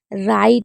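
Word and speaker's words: write: राइट हो गया, हमेशा राइट में W साइलेंट रहता है, तो ये एक दो याद रखिएगा।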